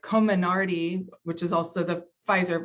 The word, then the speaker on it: Comirnaty: The member says the order from SecDef states specifically the FDA approved vaccine, never say it right, Comirnaty, which is also the Pfizer vaccine.